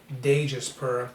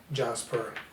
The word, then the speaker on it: Djas Puhr: ahead and use jasper i know some people pronounce it dangerous per or djaspur but it's kind of like jasper jasper he's a character that most people don't even